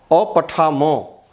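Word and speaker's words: अपठम्: यहाँ अपठामो में हलंत नहीं है, म पूरा है, जबकि यहाँ अपठम में हलंत है। हलंत जब है तो उसका उच्चारण हम आधा करेंगे, पूरा नहीं करेंगे।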